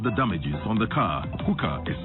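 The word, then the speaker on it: HUCA: Hooker is spelled H-U-C-A.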